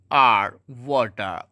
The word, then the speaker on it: water: OFOWATER, वाटर, आर को नहीं पढ़ेंगे।